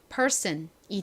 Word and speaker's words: person: 소리로 쓰였어요 연결해 보면 person이 되죠 person 선보다는 좀 더 세게 쌍시 옷에 가깝게 발음이 됩니다 슨이 무슨 의미라고 전에